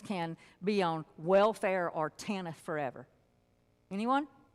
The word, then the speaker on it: TANF: There's no I in there, but you got to be able to pronounce the acronym somehow. So TANF.